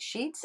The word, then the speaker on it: Sheex: The name sounds like Sheets, Sheets, but it's spelled Sheets, Sheex.